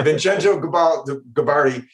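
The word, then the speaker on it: Vincenzo Gibaldi: Yeah, I was going to ask you how to pronounce that. Yeah, Vincenzo Gabardi.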